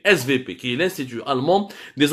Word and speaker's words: SWP: de sécurité, le fameux SVP. Ouais, il écrit SWP, mais en allemand le W se prononce V. SVP, qui est l'Institut allemand